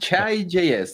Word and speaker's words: Chai: the pronunciation i mean chai js that sounds uh pretty straightforward chai latte yeah i think it's